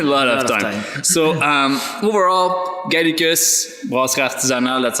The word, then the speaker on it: Gallicus Brasserie Artisanale: So overall, Gallicus Brasserie Artisanale, that's how we say it properly here in Gatineau.